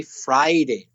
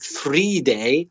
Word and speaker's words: Friday: don't work then but people are trying to say Friday Friday bareness not free day a free day would be India Libre so don't confuse Friday and three-day just remember the verb to fry fish and indeed it's an